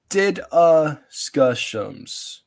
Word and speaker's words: DDiscussioMs: If you have trouble pronouncing this name, again, here's the pronunciation for it. DDiscussioMs.